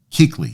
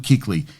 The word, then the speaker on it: Kuechly: know I I I apologize yeah it's Luke hickley yeah Luke Kuechly he was working with him the Lions took